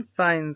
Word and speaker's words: sign: यदि एन से पहले जी आता है तब जी साइलेंट होता है। याद रखना, एन से पहले अगर जी आएगा तो जी साइलेंट होगा।